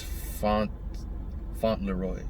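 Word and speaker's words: Fauntleroy: uh james flanders uh they keep saying his name wrong no i'm gonna do i'm gonna do you respect bro i always keep getting the l and the r confused it's font font leroy okay james leroy he's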